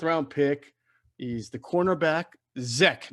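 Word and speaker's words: Zech: pick is the cornerback zek not zack zack mcpherson with an ea in there yeah from texas tech well z-e-c-h yeah z-e-c-h is exactly exact yeah we pronounce it i guess i'm reading it i guess that's how you pronounce it i don't know yeah i was told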